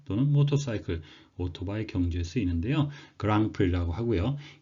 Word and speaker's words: Grand Prix: 그랑프리라고 하고요. 이 단어의 어원은 불어에서 왔습니다. 그래서 뒤에 있는 D나 X 발음을 안 하고 불어식으로 발음을 하는데 불어의 의미 자체도 Great Prize, 그래서 커다란 상, 대상이란 의미가 되겠습니다.